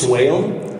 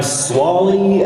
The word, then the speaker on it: Swale: It's Swale, and I'm Swally, I'm Swaley, I've been Swahili, which is a bit of a stretch.